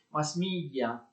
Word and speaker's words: mass media: L'espressione quindi inglese va pronunciata in inglese, mass media, i mezzi di comunicazione di massa.